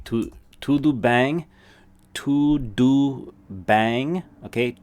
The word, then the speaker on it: tudo bem: tu du bang okay tu say that with me tu do like a straight up doo sound and then bang as it literally as if you were saying like bang like bang like a all right b-a-n-g there's that n-g sound to bang okay so to do